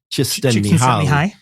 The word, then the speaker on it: Csikszentmihalyi: I'm going to get the last name wrong. Something like Csikszentmihalyi.